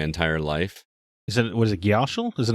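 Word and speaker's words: Gysahl: What is it, Gyashal? Is it not? What is it? They pronounce it Gasol in this game.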